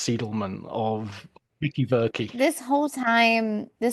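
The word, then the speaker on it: Seidelman: By all means, correct my pronunciation because I prefer to be corrected than to be continuously going, you know, Susan Sidleman when it's Seedleman of Vicky Very.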